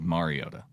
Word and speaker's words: Mariota: with my quarterback pronunciation, I can confirm it is Mariota.